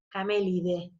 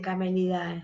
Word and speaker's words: Camelidae: La familia siempre es la con terminación AE, pero se pronuncia E. Por ejemplo, acá es Camelide, ¿sí? No se dice Camelidae, se dice familia Camelide.